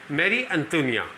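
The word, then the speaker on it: Marie Antoinette: ठीक है, इसका प्रोनाउंसिएशन है मैरी एंटोनिया.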